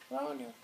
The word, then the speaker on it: Roanoke: Cherokee Island? No, Roanoke Island. Roanoke. And then the next place they settled was Chesapeake Bay.